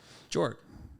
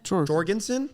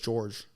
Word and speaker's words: Jorgenson: at your name huh it's a hard G jorg jorg yeah Jorgenson Jorgenson there you go yeah yeah I used to think it was George everyone gets it I